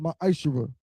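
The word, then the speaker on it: Ma'aser: Means 10th in Hebrew, and is pronounced Ma'ashera.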